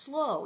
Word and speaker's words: slough: Oh, complicate things, it's pronounced slow in Pilgrim's Progress.